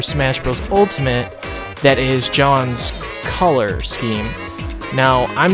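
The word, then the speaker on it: Jeanne: would be Jean from I think it's pronounced John instead of Jan from Bayonetta reason well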